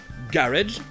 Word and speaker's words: garage: Garage, en anglais britannique, garage, en américain. Bon d'ailleurs je vous ai un peu menti parce que au Royaume-Uni ils vont le prononcer garage, mais aussi à la façon française très couramment. Garage, en gardant les deux syllabes.